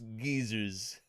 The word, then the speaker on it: geyser: springs and boiling mud I love the way that that Britain's pronounced geyser with its Geyers I'm sure geyser sounds funny to people from the UK also but we say geyser here in the states with its gers hot